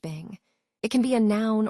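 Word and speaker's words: 病: Let's look at the word Chinese letter, pronounced Bing.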